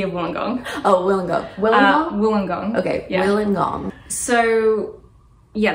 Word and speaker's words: Wollongong: Wait, Wanapong? Am I saying it wrong? What's the university called? University of Wollongong. Oh, Wollongong. Wollongong? Wollongong.